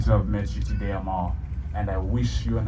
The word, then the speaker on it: Amal: Hello, Amal. It's great to see you. Thank you so much for being here. My name is Jamal, so our names actually rhyme with each other.